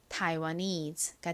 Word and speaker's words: Taiwanese: 다음 N은 니은 소리, 끝에 ESE는 eat 소리가 나죠. 연결하면 Taiwanese가 됩니다. Taiwanese.